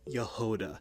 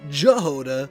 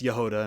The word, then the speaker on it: Jahoda: I know now that it's Yehuda, not Jehovah, but I say Jehovah throughout this whole video because I did not know how to say her name. And um let's be honest, let's be real. You guys pronounced it, too. I'm pretty sure the majority of you out there probably said Jehod first, but here we are. It's Yoda, and I'm going to